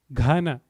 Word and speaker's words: Ghana: Ghana, G-H. G is G, G-H is Gha.